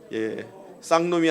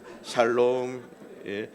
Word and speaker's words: 샬롬: 앞뒤 좌우로 샬롬 샬롬 쌍놈이 아니라 샬롬입니다 샬롬 발음 잘못하면 욕할 수도 있으니까 샬롬 샬롬은 무슨 뜻이에요